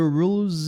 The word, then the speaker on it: rules: Esse S tem som de Z.